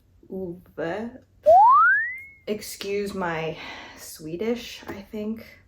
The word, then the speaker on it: Ove: A Man Called o is that how you pronounce this title okay I Googled it it's a man called UA excuse my Swedish I